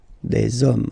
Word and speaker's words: hommes: You don't pronounce it, so you get des hommes, okay.